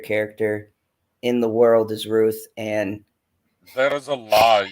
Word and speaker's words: Ruth: Roof, like Ruuff. Roof. Bitchy says that to me too. I say what? When I say roof, because I don't pronounce. Christ. Birthday. Shut up. So Ruth. It's adorable. Oh, he almost got most of the TH that time.